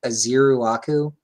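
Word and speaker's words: Ezeiruaku: So Donovan, and I just found a pronunciation guide. Azeruaku.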